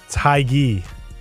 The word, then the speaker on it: hygge: Yeah, it's Hygge. No, hookah is what I heard. Hygge. That's how you pronounce it, yeah.